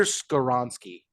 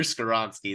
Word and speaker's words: Skoronski: I'm thinking at pick 20 that you're gonna go with Peter Skorinski Peter out of North Skoronsky.